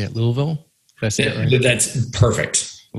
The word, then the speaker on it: Louisville: they can go download that book for free and if you're looking for a new agency in how do you say at louisville that's it that's perfect a little yeah yeah